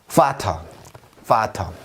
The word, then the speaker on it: Vater: Vater. 뭔가 이상하죠? 뭐가 이상합니까? 뭐냐 하면 마치 F처럼 소리가 납니다. 얘가 파우라고요. 그러니까 당연히 파터지.